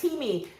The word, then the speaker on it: Timi: Yeah, it's Timmy. Ivy, but it's spelled Timi. It's the Timi in my name. So Timi, Timmy.